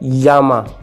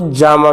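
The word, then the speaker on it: llama: जैसे एक वर्ड है यामा, इसको जामा भी बोलते हैं, जामा, यामा, दोनों ही साउंड ठीक है, प्रोनाउंसिएशन इसकी।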